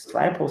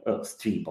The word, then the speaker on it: Stripo: of our service it's strip or ster uh okay people usually say sto but right way is a stripo so yes it's right